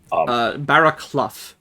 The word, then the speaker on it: Barraclough: Barraclough. Sure. Okay. Clough rhymes with bluff.